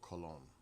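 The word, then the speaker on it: Colón: So English version is Diego Columbus, but it's Diego Cologne in Spanish.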